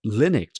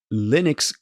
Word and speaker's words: Linux: the system, source code, Linus actually included the audio guide of how to pronounce Linux. Because he knows people are going to pronounce it maybe Linux.